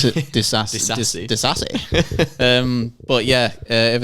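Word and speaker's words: Disasi: Because I always thought it was Diassi, but it's got an S in it, so it's Disassi.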